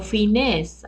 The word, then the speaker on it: Fineés: Aquí el punto principal, Tzadok o Zadok fue un descendiente de Pinjas, de Fines, F-I-N-E-E-S, o Fines, algunos pronuncian con acento.